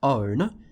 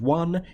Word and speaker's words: one: Now, that word should have ended up being pronounced own, the way it's spelt, but it's not. It's pronounced one, and we don't know why.